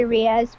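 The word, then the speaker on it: Rias: re when you say rize i'm thinking tokyo ghoul yeah it's actually riaz but i pronounce it rize well i'm going to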